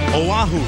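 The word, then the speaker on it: Oahu: the Pacific Honolulu Hawaii they call it wahoo The Gathering Place had their that's how they say it in Hawaiian down to you and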